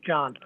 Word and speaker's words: Can: Yeah, it's Turkish, so it's pronounced John.